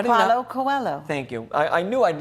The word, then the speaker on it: Coelho: Now, I will not try at all with my French to pronounce this guy's name. Get your glasses on. Tell me. How do you Paulo know? Coelho.